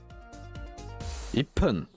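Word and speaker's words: 一分: En gros, il se prononce pas parce que 1 c'est Ichi, c'est Hippon. 6 c'est Loku, Loppun. 8 c'est Hachi, Happun. Et 10 c'est Ju, Jupun. En fait, le pun va être plus prononcé. Le P va être plus fort.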